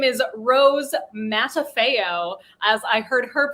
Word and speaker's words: Rose Matafeo: came out of my mouth her name is rose matafeo as i heard her pronounce it uh peter and i binged this